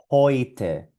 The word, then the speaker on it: heute: Aquí tenemos la E con la U que suena hoy. Y en esta palabra también. Heute.